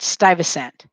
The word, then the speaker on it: Stuyvesant: Stuyver using Stive, but it's spelled Ves, ant, Stuyvesant.